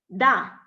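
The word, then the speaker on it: 大: And the pronunciation is also very easy. It's da. Da. As you say in Russian, yes, right.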